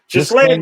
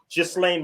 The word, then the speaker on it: Ghislaine: Yeah, how you pronounce his bitch name, man? Ghislaine Maxwell. Ghislaine Maxwell.